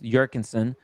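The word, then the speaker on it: Jürgensen: This is the urban Jerkinson or pronounced Jurkensson 1140 L.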